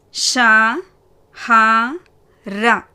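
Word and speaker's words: शहर: அடுத்த வார்த்தை ஷா ஹா ர. ஷா ஹா ர.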